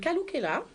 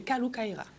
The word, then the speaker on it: Kalou Kaira: Est-ce que j'ai bien prononcé? Kalou Kaira. Kalou Kaila, c'est ça? Kalou Kaira. Kalou Kaila. Toujours pas, hein? Kalou. Toujours. Kalou Kaira. Kalou Kaila, ça va venir, très bien.